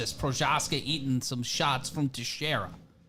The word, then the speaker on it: Procházka: say it, but thank you so much, Jiri Procházka.